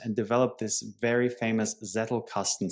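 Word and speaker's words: Zettelkasten: He wrote 70 books, 400 papers and developed this very famous Zetle casten system or Zetel casten, how you pronounce it in German, generating, you know, 300,000 citations to this date.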